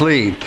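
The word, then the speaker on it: Leigh: Mayor, it's Lee, like the Chinese laundry, but I'm the English butler. L-E-I-G-H, pronounced Lee.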